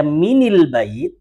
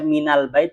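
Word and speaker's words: مِنَ الْبَيْتِ: Kalau dibaca minil bait enggak enak. Iya kan? Coba sekarang jenengan baca minal bait dengan minil bait. Enak yang mana? Minal ya. Jadi memang menyesuaikan dia harakat untuk membacanya minal baiti.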